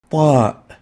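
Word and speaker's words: ط: We call it Ta, Ta. To learn how to pronounce it, start with a T. Ta is similar to the Ta, like the T sound, but more emphatic.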